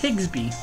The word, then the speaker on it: Higsby: his name is prenata let's just see it's higsby so hello to you too Mr digsby and